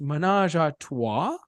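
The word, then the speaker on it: ménage à trois: And he's like, I believe it's pronounced menage a trois.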